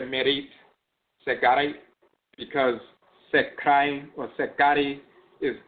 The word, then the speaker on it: Meretsegert: There's different ways to pronounce it. Sometimes people say Meretsegert, Meretsegert. We said Meretsegert because Sekrai or Sekari